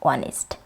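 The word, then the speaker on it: honest: An year, an অনেস্ট, an hour etcetera.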